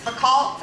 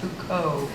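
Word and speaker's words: Foucault: understand Judith Butler I once tried to reference fault at a party to make myself sound smart and and my friend politely corrected me and said it's pronounced H Co the only reason I've ever tried to read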